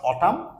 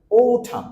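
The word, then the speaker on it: autumn: rainy and ও নট অটাম sound করছি আমরা ওঠাম আমরা সাধারণত বলি অটাম কিন্তু সাউন্ড হবে ওঠাম ওঠাম লাস্টে এন এর সাউন্ড সাইলেন্ট হবে ওঠাম এনাদার ওয়ান লেট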